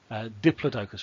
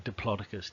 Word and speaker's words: Diplodocus: If I take two very famous dinosaurs here, you'll see a Tyrannosaurus and a Diplodocus or a Diplodocus, depending on your pronunciation.